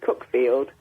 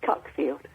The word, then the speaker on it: Cuckfield: It's in It's like um nearby there's a little place called Cookfield. A lot of people call it Cuckfield because it's spelled with a U.